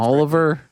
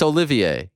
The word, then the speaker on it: Olivier: who cares if he's pronouncing the name Oliver I mean I love Oliver it's my son's name it's Olivier they should make fun of